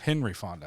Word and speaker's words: Henry Fonda: Is it Peter Fonda? I'm pretty sure it's Peter. No, it's Henry. Peter. Yeah, Henry Fonda.